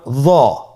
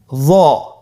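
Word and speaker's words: ظ: হরফটির নাম হলো জ। হরফটির নাম কি? জ। একটু মোটা করে বলতে হবে। হরফটি হলো মোটা হরফ, বারিক করে পড়া যাবে না এবং হরফটি উচ্চারণ করার সময় অবশ্যই 1 আলিফ টেনে পড়তে হবে।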